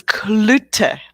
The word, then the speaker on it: Cloete: we talk almost every day and i still mispronounce her last name it's clutter i'll give you a clue okay yeah i'm